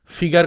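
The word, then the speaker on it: figure: ফিগার কথাটার ফরাসি উচ্চারণ ফিগুর অর্থাৎ মুখের চেহারা।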